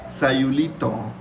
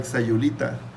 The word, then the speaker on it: Sayulita: You say Sayulito, Sayulito, or Sayulita. Obviously, it's not. It's the pronunciation is Sayulita.